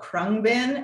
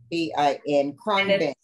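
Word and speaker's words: Khruangbin: I went to Krungbin. It's impossible to pronounce or spell. It's Khrungbin, but they're a band in Houston.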